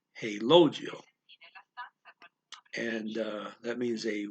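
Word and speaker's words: relógio: portuguese um you got there's an accent over the first o so you gotta stress that syllable hey logio and uh that means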